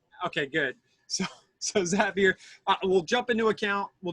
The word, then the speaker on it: Zapier: It's Zapier. You're happier with Zapier. Okay, good. So Zapier, we'll jump into account.